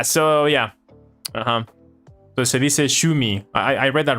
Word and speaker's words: 趣味: Shimi, right? Shimi, that's Shimi. あなたの一番好きな趣味は何ですか? 私の一番趣味はホビーですね。私の趣味は動画を作ります。で、動画を見ます。もうゲームをします。これから私の趣味です。一番の趣味はゲームと、言語も私の一番の趣味は言語です。私は言語を勉強します。言語を話しますもん。そうですかね。Yeah, I think that's my Japanese. So, 読み方が趣味。趣味の読み方は趣味。Shumi. Thank you. Shumi.